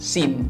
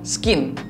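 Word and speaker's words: scene: kejadian perkara adalah Crime SIM ingat ya SIM di sini dosanya scne c-nya itu adalah sillence jadi jalan nggak bisa baca nggak boleh baca cek itu bacanya adalah Sim bukan skin Crime SIM Note Prime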